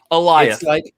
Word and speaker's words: Alioth: And it's very simple. Eliath. It's Goliath without the G.